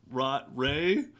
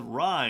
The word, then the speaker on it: Rey: You see a lot more of Rey, who apparently we're all pronouncing her name wrong because she says Rye in the thing.